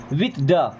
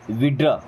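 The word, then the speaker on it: withdraw: विथड्रा, क्या बोलते हैं विड्रा। देखिए शॉर्ट में कैसे पढ़ते हैं विड्रा, क्या पढ़ते हैं विड्रा। वैसे क्या पढ़ते हैं विथड्रा, नो यहाँ पे टी एच दोनों साइलेंट है।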